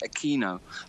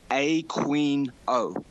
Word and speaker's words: Aquino: the South American pronunciation he doesn't pronounce it Aquino which is how it should be pronounced he pronounces his own name a queen oh so it begins with